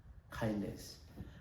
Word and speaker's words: KINDNS: spell it as uh K DNS and we pronounce it as uh kindness and it is basically a framework for DNS